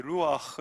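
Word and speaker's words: רוח: 이라고 우리가 표현하죠 그리고 이런 히브리 원화의 바람 이란 말에 루아흐 란 말인데 이거는 바람 같은 느낌도 듭니다 발음 자체가 바람이 히브리 바람 일은 발음입니다 루와 할 때 그 으 이 바람이라는 바람 이거든요 4 이 바람 이란 뜻이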